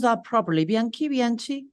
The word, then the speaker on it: Bianchi: Bianke, Biani, Bianke, correct? Bianke is an Italian Brazilian chef and writer with a background Italian name from a Italian Brazilian family.